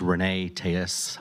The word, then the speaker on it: Reyne Telles: My name is Renee Tejas. I'm the Chief Communications Officer. That's spelled REYNE TELLES.